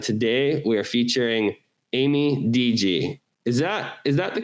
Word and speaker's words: DiGi: And today we are featuring Amy DG. Is that is that the correct pronunciation? Yeah. Yeah, it's from my mother's maiden name, DJ.